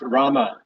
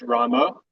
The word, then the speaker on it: Rama: we should chant Rama pronounce Rama not as Ramo is that the reason because Rama is referring to Lord Ramachandra.